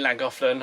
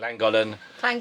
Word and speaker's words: Llangollen: pretty good spot it's our last night in Lang offland or clang offland or you want to say it langol just say how it's spelled langol so it's our